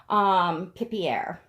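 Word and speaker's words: Pipierre: So it's like Pip and then Pierre, Pipier.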